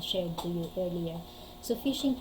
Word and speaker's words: phishing: So phishing, pronounced like the word fishing.